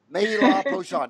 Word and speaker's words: Marie-Laure Pochon: Marie-Laure Pochon.